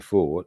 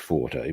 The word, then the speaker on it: Forte: But Panadine Fort, and I suppose strictly speaking should be pronounced Forte, but we'll leave that discussion there.